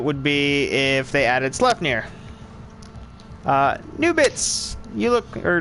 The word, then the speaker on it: Sleipnir: It's pronounced Sleipnir.